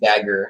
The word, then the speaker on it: Dagher: It's pronounced Dagher. Yeah, it's a Lebanese name.